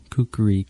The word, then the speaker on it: kukri: I did not know that there were 3 syllables to it. Yeah. Kukri.